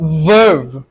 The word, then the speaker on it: verb: করে ফেলো ঠিক আছে একটা সাইলেন্স যখন ভি উচ্চারণ করবে তখন মুখের মধ্যে যাতে একটা ভাইব্রেট হয়। ইজ ভার্ভ, বলো তো সবাই, ইজ ভার্ভ, মুখের মধ্যে একটা ভাইব্রেট করবা, ইটস নট ভার্ভ, ঠিক আছে? ভার্ভ, ভি উচ্চারিত হবে।